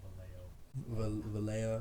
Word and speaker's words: Vallejo: So This is pronounced Vallejo.